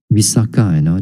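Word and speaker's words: Visākha: this is the male Visakha. This is not the female, the benefactress of this one. Usually we associate with the word Visakha. This is the male without a long A at the back.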